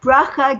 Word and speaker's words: Bracha: I don't know why, but people that aren't Jewish can't do the ch.